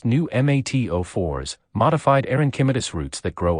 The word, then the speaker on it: pneumatophores: bald cypress automatically produce knees technically called pneumatophores pronounced new mat04s modified arenchymetis roots that grow upward into the